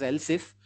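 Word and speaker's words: elif: We'll pronounce it as else if. But while writing the syntax it is e l i if please mind that.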